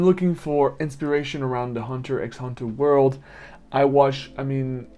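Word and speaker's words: Hunter × Hunter: is a fan of hunter x hunter apparently it's pronounced hunter hunter or you know like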